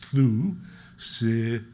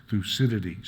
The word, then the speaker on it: Thucydides: So just to make sure we all know how to pronounce his name, let me remind you, it's Thucydides. Thucydides. So let's say it out loud again. Thucydides.